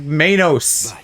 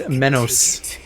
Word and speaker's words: Menos: Why do you say it like mayos? It's not mayonnaise. It's menos.